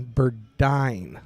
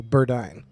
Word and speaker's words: Burdine: Jason's wife it's uh Burdine like uh pronounced like dying so Burdine so now we know